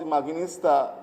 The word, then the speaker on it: Imaginista: The second moment is the Bauhaus Imaginista. They call it Imaginista, so I'm pronouncing it in a German way, corresponding with that section.